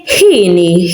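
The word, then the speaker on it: hieni: We say hini. Hini, it's happy. Hini, as you can hear, I'm saying it and pronouncing it as a h, like this one. I'm pronouncing it like a h.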